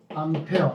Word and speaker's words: 암페어: 암페어. A라고 읽는 거 아니고 암페어라고 읽는 거예요.